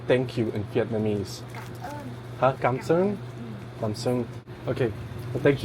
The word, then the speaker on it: Cảm ơn: Cảm ơn.